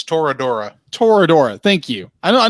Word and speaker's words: Toradora: on FUNimation and we watch Toro it's Tora Toradora thank you I know I know was gonna mispronounce it it's an odd word it is